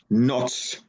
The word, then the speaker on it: Noc: Noc, N-O-C. So generally almost the same as a Russian, only we do not have this hook at the end. So we say noc.